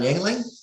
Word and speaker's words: Yuengling: guest before we started was how to properly pronounce his last name. So with that, I'm going to introduce Jon Yuengling.